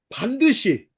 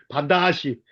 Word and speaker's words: 반드시: 하지만 약속하신 분께서는 반드시 서산에 갔더니 서산 사람들은 반드시라고 안 하더라. 발음이 반다시 반다시 오신다고 하였다. 발음을 못 하더라고요.